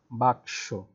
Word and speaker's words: বাক্স: দেখো বাক্স, ক এবং দন্ত ষ, সেটার উচ্চারণ ঠিক এরকম, বাক্স।